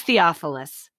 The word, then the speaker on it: Theophilus: because i wouldn't have said it right it's theophilus i was so proud of my i wrote it phonetically on my show it's not it's not